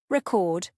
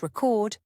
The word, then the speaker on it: record: Other tricky word pairs include record, noun versus record, verb.